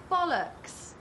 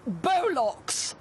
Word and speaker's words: Bollocks: here from the planet bollocks actually it's pronounced bolock oh okay you must